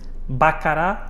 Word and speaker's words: Baccarat: Pedro, eu então pegava nessa premissa e falava da Baccarat, é assim que se deve pronunciar, que é eventualmente das cadeiras que olhando para ela demonstra uma fragilidade enorme, não é?